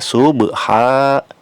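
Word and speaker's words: صبحا: Subha dibacanya subha, ba-nya ba sukun, sub dipantulkan. Ini termasuk qalqalah juga ya, sama seperti ayat pertama dan ayat kedua, qalqalah sugro. Subha harus ada pantulannya.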